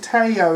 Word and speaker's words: Theo: It's me and Teo again. It's spelled Theo though.